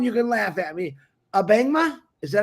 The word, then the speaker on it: Abangma: Abangma? Is that how you say it? Wonderful, wonderful. You got it right. Cool. Well, on that note, Mr. Julius Abangma.